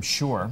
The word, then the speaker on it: Shure: you today are these uh these headphones from Shore that's spelled s h u re e is the